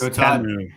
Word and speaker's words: Temu: It's Temu, T-E-H-Mu.